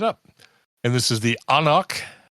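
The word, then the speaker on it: anCnoc: And this is the Anoch, which is despite how it's pronounced spelled A N C N O C 12ear single malt scotch.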